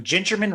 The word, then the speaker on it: Gingerman: the founding of Ginger a lot of people you know they pronounced it gingerman Raceway but it's actually ginger man it's not a big deal you know but it's ginger man cuz the track was